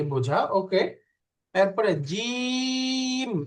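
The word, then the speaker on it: جيم: এরপরে জিম, এই যে জিম উচ্চারণ করার সময় একটু বেশি টানতে হবে, অর্থাৎ 3 আলিফ টানতে হবে।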